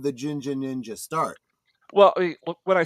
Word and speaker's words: Jinja: so that's why I spell it Jin, because if you There, spell it oh, G, some people might say Ginja or something like that.